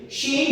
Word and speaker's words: she: she he it Oke she bacanya she she bukan si ya She Oke ingetin